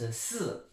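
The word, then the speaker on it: 四: Il se prononce S.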